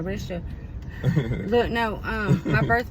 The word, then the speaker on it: Ericia: is what Erica Erica but it's spelled e r i c i a so it's spelled Arisha look no um my